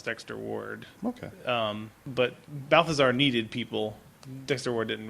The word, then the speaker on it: Balthazar: to a demon cat named Balthazer as they not Balthazar but Balfazer. I was very mad they didn't pronounce it Balthazar.